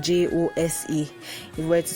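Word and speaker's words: José: be host h-o-s-e but it's pronounced jose h-o-s-e with an accent on the e so you get that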